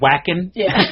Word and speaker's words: Wacken: It's spelled Wacken, but they pronounce it Wacken.